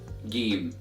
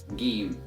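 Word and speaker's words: جيم: first letter of Arabic is pronounced it as game game and as always repeat after me again game and the sound of the little game comes from the middle of the tongue and is equivalent to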